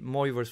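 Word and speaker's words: de Moivre: to use what's called the more reverse formula i know i'm not pronouncing it correctly the french way but you know that's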